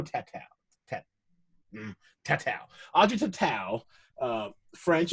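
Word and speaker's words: Tautou: Yeah, it's either Tattoo or Tatao. Let's go Tatao.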